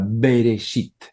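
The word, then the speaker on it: בראשית: Bereshit, acá algunos colocan una E, es una E casi muda, Bereshit, así sería la pronunciación. Acá está escrito desde arriba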